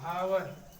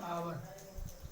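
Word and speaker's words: hour: इसको लोग पढ़ते हैं हॉनेस्टी, लेकिन हॉनेस्टी नहीं पढ़ा जाएगा, ऑनेस्टी, क्योंकि यह यहाँ पर साइलेंट है। जैसे आपका लिखा जाता है हावर, पेपर में लिखा जाता है हावर, पे पढ़ते क्या है? आवर। इसी प्रकार से आपका है ऑनेस्टी। तो इसमें यह शब्द क्या है? यह साइलेंट है, अर्थात इसका उच्चारण नहीं करते हैं।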